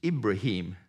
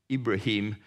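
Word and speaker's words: إبراهيم: name for Abraham is ibraim said with an I pronounced with an e ibraim is only mentioned 76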